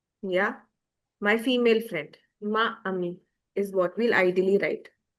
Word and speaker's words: amie: While the pronunciation is the same of ami and amie, but the spellings will just we'll add an e to make it a female.